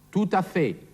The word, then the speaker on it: tout à fait: Da hier ein Vokal auf das T vom Wort tout folgt, wird dieses T ausgesprochen. Tout à fait.